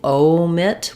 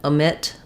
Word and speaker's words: omit: long clear o here the stress in Amit omit is on the MIT syllable you'll probably still see it written with the the O dip fong in the first um first syllable but I don't want a long clear o there I don't want omit I don't want it equal and I don't want it stressed on the o um in Miriam Webster